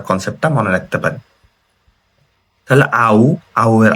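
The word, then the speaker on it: 会う: তাহলে আউ, আউ এর আ হচ্ছে এই কাঞ্জিটা মানে দেখা করা।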